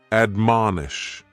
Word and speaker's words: admonish: The first word is to admonish, and admonish has 3 syllables, and the stress is on that second syllable, mon. Admonish, and this is a